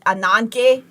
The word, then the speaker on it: Ananke: Oh, I it's Greek and so with a Greek accent it seems like you say it ananke but it's spelled like anani anani and that person is